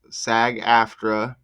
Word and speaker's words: SAG-AFTRA: SAG-AFTRA is pronounced SAG-AFTRA.